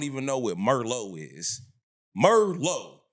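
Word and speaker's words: Merlot: Merlo, not Merlock. Merllo, the T is silent, baby.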